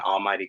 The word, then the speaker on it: Almvghty: I'm the founder designer behind Almvghty Clothing. That's Almighty spelled with a V.